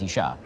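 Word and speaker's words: אישה: It's Ish, which is spelled Aleph Yud Shin. It's the same spelling, you just add a hey at the end, and now it's Isha, right?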